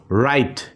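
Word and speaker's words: write: সেই ওয়ার্ডটাতে W sound হবে না ডব্লিউ টা সাইলেন্ট হয়ে যাবে আমরা কিছু এক্সাম্পল দেখি এখানে এখানে দেখো রাইট রাইট দেখো ডব্লিউ এর পরে কিন্তু আর আছে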